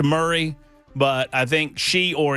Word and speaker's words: Murray: the uh the super texter knows that it's pronounced Murray, but I think she or he they are attempting for me to start a campaign to change the pronunciation of Murray County to Mari County now that I live there.